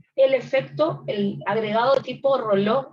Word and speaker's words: Rayleigh: Recuerden que el efecto Rayleigh, o se escribe Rayleigh y se dice Rayleigh, ya lo habíamos estudiado cuando vimos eritrosedimentación.